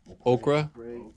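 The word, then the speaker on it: Ochre: bit made some trades the yellow acry that's how you pronounce it okra those are gone shout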